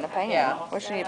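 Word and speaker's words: pean: calls this a uh pan a pan I think because it's spelled p e a n she says a like a pen but it's Weir a pan and you're like and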